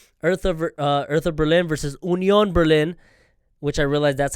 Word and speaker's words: Union: onion Berlin which I realized that's how you say it it's not like how you say down here in the States we say Union but I guess it's said pronounced Union instead